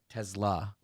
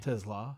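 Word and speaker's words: TeSlaa: Tesla. It's not Tesla. No, It's not like it's not. It's not an off-brand car that falls apart because it's made by a tech company. Tesla.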